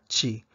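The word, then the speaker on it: ち: Chi. Chi. Tsu. Tsu. Te. Te. To. To. Tandaan po natin na wala silang T at saka tu. Imbis na T ang meron sa kanila chi.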